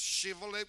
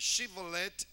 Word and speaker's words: Shibboleth: I want you to notice the difference, Shibboleth with the H and then Shibboleth without the H.